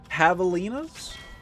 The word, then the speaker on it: javelinas: J is pronounced as an H. Javelinas?